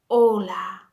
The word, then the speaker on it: hola: Yes, so another example of the H at the beginning of a word silent, one that you'll remember very well will be hola.